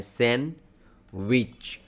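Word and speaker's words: sandwich: और ध्यान रखेंगे सैंडविच होता है। सैंडविच। राइट? इसमें डी साइलेंट होते हैं आपके सैंडविच।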